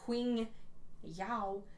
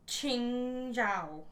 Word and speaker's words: Qing Zhao: As I'm reading it in my head, I say Qing Yao, but that's not how you say it. Where's my pronunciation guide? Qing Zhao. Qing Zhao is her name.